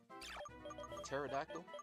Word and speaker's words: pterodactyl: You're very PT break PT pterodactyl. No, the P is just a silent letter.